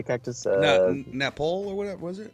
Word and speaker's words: nopales: Napole or whatever was it? Nopales.